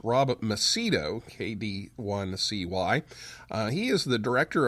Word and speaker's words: Macedo: It's Rob Macedo, KD1CY.